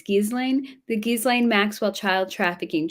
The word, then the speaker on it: Ghislaine: I always forget how to pronounce her name. It's Ghislaine.